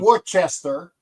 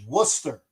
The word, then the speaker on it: Worcester: England, you know that that town is called Worcester. It's not Wararch, right? It's Worcester, right?